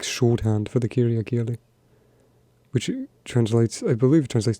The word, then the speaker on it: kirjakieli: But there's puhekieli, which is spoken Finnish, and there's kirjakieli, which is, forgive my pronunciation, kirjakieli, which is written Finnish.